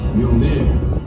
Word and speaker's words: Mjolnir: It's pronounced Mjolnir.